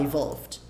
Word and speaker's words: evolved: Você pode falar evolved. Só que esse D fica tão leve na frase que ele some. Chickens evolved from dinosaurs. Se você tiver numa região de pronúncia que pronuncia mais o D, mais o T mais forte, aí evolved, bem forte, né?